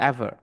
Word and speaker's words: aver: এটা হচ্ছে তোমার এভার, AVER, এভার। উচ্চারণটা আর উচ্চারণটা ইয়া হয় না আর কি, অ্যাভা এরকম ভাবে বলে, অ্যাভার।